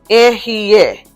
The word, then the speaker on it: Ehyeh: Ehyeh. Is the same as yeah without the Y.